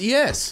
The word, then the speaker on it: éS: So when you hear a pro say that, you're like, oh, it's ES. Right. Uh-huh. And then he was just like, you know, I think the first time I ever heard it pronounced properly was at the end of a 4-on-1.